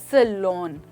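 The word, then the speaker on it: salon: That's right दोस्तों, सैलून। अब लोग अक्सर इसको सैलून कहते हैं दोस्तों, यहाँ पर लून नहीं बट लॉन की साउंड आती है।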